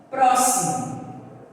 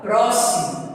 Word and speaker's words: próximo: Isso porque o som que sai dá para nós entendermos que é com SS.